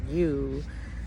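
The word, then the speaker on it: ewe: um deceptive and ambiguous the female sheep is called a you and they spell it e-w-e so i you know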